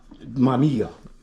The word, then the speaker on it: Mamiya: Mamiya.